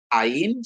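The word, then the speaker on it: ayin: Kalau ain itu yang minggu yang lalu kita baca kemarin, ain itu adalah silent ya, silent. Alin dan alef itu adalah silent.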